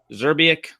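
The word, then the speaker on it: Zrebiec: Is that how you pronounce it? Zerbiak.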